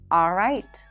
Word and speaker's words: alright: The next hack is that you don't have to pronounce the L in the words always, alright, and already. It's not a mistake to pronounce the L, but if you're struggling with the L, just drop those sounds. Simply pronounce an ah sound right before.